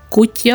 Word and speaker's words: кутя: звук а він голосний давайте поставимо наголос у слові куття для цього нам потрібно його погукати куття а отже наголос падає на А скільки голосних у слові